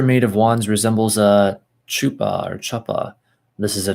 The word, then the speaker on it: chuppah: Chuppah.